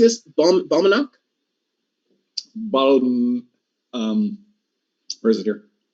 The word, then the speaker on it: Balmenach: Balmenach? Where is it here? Balmenach. Balmenach. Balmenach. The CH in Gaelic is a ch sound, like Bruichladdich or Glenfiddich.